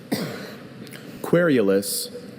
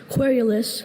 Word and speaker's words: querulous: Querulous. Querulous. May I have all the information? Querulous, also querulous or querulous.